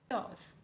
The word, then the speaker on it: chaos: Chaos. Chaos. Chaos. Yes, this is a correct pronunciation. Chaos. We stress more on the first part, which is chaos.